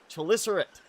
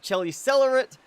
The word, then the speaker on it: Chelicerata: And therefore, the pronunciation for this is correctly said Chelicerate. Not Chelicerate, not Chelicelerate, like I've tended to say, not Chelicelery, and definitely not Chelibelly, unless you just want to call them Chelibelly because you think it's funny.